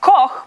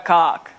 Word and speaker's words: Koch: My last name is Koch. It's meant to be pronounced Koch, but if you're living in an English-speaking country, 8 out of 10 times I am Koch.